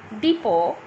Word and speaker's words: depot: Here are some words with the silent letter T. Now, in every of these words, the letter T is silent, like castle, depot, listen, often. In each of the words, I have not pronounced T as it is silent.